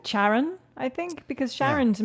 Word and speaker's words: Charon: they call it the charon it's a hard c i wrote it down but i've always pronounced that sharon let's go with charon i think because sharon